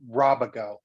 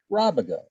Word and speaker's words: Rabago: And because I have you there, is it Rabago? No, it's actually Robago. Rabago. That's the Right. way I wanted to And I'm pronounce gonna, no, you should have. It's the Spanish pronunciation.